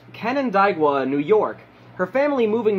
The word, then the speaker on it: Canandaigua: She was raised in, I believe it is pronounced, Canandaigua, New York, her family moving there not long after she was born.